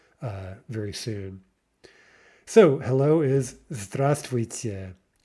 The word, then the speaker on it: здравствуйте: So hello is здравствуйте. Здравствуйте. Remember that we're not pronouncing the V.